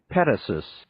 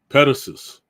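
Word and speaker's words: petasos: Okay, now let me get this right here. So we can get the pronunciation. Petassus. Petassus. Petassus.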